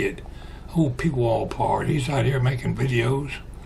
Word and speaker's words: Pwalpar: So I just stuck a P in front of it and called it P wallpar. And some people can't pronounce P W A R, but that's how you say it. Old P wallpar.